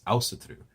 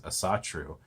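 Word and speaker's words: Ásatrú: Now, with Iceland, the path is specifically referred to as Ásatru, which in some of my earlier videos I've actually referred to as Asatru, which is a mispronunciation of the word.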